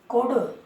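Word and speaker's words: could: एक डी वाला और देख लें, जैसे कोडो, कोडो, बोडो, सोडो, सब में डी के पहले एल आता है तो एल साइलेंट रहता है, ये हम जानते हैं कि नहीं?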